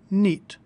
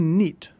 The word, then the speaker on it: knit: off Champion for 1971 notice that the word knit is spelled with a silent k all words in English